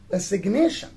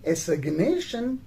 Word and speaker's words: assignation: But when we change the word form from a verb to a noun and we say assignation, so then in assignation we do pronounce the letter G.